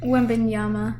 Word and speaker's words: Wembanyama: San Antonio would have traded Victor Wembanyama, or however you pronounce his name. I always butcher it. Wembanyama.